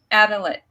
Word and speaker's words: Adelaide: Adelaide, Australia, South Australia, correct?